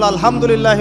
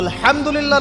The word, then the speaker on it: আলহামদুলিল্লাহ: তো আলহামদুলিল্লাহ না বলে সে বলেছে আলহামদুলিল্লাহ, তো যে হায়ের উচ্চারণ পরিবর্তন হয়ে গেছে, এই কারণে অর্থ পরিবর্তন হয়ে দাঁড়াবে যে সমস্ত নিন্দা আল্লাহর জন্যে, যিনি জগৎ সমূহের রব।